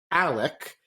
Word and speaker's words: Alex: We have the father, whose name is Richard Alexander Murdoch, but he actually goes by the name Alec, or yes, Alec. The X is silent and the C is invisible.